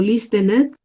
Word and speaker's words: listened: ¿Por qué sé que se pronuncia con una D al final?